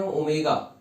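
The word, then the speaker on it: omega: डब्ल्यू नहीं बेटा, इसको पढ़ते हैं, प्रोनाउंसिएशन करते हैं ओमेगा, ठीक है।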